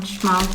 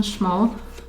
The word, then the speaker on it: Szmal: And yeah, Roman Szmal pans, and also this metal box from Roman Szmal. I'm saying this in English like Roman Szmal, but it should be pronounced Roman Szmal.